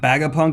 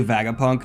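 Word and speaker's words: Vegapunk: well aware of that Baga Punk is officially Vaga Punk just with his head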